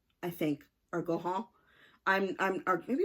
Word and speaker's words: Gaughan: That was called Perennial by Nora Gauguin, I think, or Gohan. Or maybe it's Goffin. It's Gaughan.